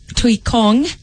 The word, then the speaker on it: Tuikong: of Pauline cosmetics Kenya her name is Nellie Thuy Kong yes I said it right yes she's live